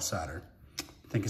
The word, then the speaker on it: Soderstrom: I think it's actually pronounced Soderstrom, but I call it Sodder.